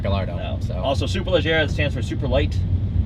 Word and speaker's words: Superleggera: It is not Gallardo, and it is Superleggera, not Superleggera.